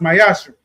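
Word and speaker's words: ma'aser: You can find in numbers 18 and 21 Malachi 3:8-10 means temp in Hebrew is pronounced myasher.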